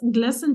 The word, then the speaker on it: glistened: attention prison lesson and the T here is silent if you remember a word like lesson so a lesson to